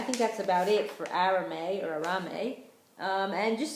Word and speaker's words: arame: those nutritional properties so arame or arame as I said it's pronounced a little differently um let me see